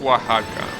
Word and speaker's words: Oaxaca: English will be what Saga but yeah it's pronounced Oaxaca yeah from Edge to shade to age that's